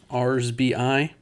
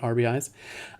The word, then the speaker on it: RBIs: Then we've got the AL runs batted in, RSBI. I'm told that is the actual correct way to say that, RSBI, not RBIs.